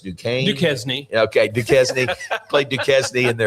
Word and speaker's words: Duquesne: Is it pronounced Duquesne? Okay, Duquesne.